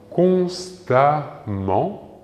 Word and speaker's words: constamment: se terminant en n le suffixe sera e m mm e n t amant la même prononciation. Prenons deux exemples. Constant ici se termine bien en an. Son adverbe correspondant sera constamment OK se terminant en a m e n t.